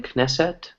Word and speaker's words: Knesset: written K and E so is it pronounced Knesset sorta as the word in Hebrew is a correct pronounced the Israeli Knesset knesset knesset yeah there's a Knesset there so